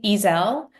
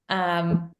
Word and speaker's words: Ezzell: One thing that I noticed, Hannah, is the way that you said the name Ezzell. Mhm. Ezzell.